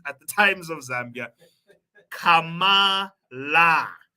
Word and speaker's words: Kamala: the times of Zambia Kama La okay not Kama ra Karma say it with me people Kama La hopefully we'll send Mr